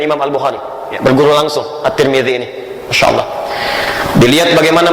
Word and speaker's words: At-Tirmidzi: Nah, ketika diberikan al menjadi at, dibacanya at-tirmidzi. Disinilah imam kita kemudian dikenal dengan nama Imam At-Tirmidzi.